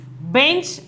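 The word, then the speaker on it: बेंच: Here we are having the bindu. So the pronunciation is bench.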